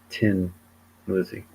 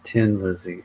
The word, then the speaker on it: Thin Lizzy: Um because the band was from Dublin, Ireland. So in Dublin, it's pronounced Tin Lizzy. And a Tin Lizzy is a name of